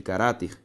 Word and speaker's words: caráter: acento de caráter né se eu faço separação silábica de caráter eu tenho isso aqui ó ra ter ou seja tenho essa separação e perceba que a sílaba tônica Olha só comigo a penúltima palavra paroxítona Vamos separar saúde agora